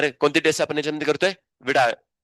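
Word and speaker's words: Widal: कोणती टेस्ट आपण करतोय विडाल वायल नसते विडाल असते विडाल तुम्ही वायडाल बोलाल तिथ आणि जो बेसिकली एमबीबीएस टीचर तुम्हाला टीचिंग करणार आहे अ वाईडल्ट टेस्ट ठीक आहे.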